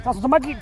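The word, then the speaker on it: tlazohcamati: Tierra, compa, tlaskamate, I actually found out how to say it right now.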